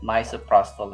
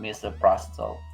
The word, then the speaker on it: misoprostol: mr prostate myself okay so the pronunciation is my cell prostate okay let me repeat that myself okay so she said it misoprostol it's not mr prostal okay can i have